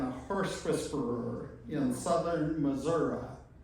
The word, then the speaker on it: Missouri: horse whisperer in southern Missouri. Her daughter in her tribute gave the instructions as far as what the proper pronunciation was. Otherwise, I probably would have said Missouri or something like that.